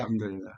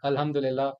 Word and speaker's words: Alhamdulillah: and Alhamdulillah, if I am pronouncing it right. Yeah, it's right. Yeah, Alhamdulillah. Alhamdulillah.